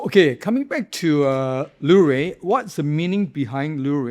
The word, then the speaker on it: Lewré: Yeah, you pronounce as lur.